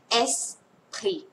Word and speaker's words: Esprit: อ ก เ สี ย ง ว่ า Esprit น ะ ค ะ Esprit น ะ ค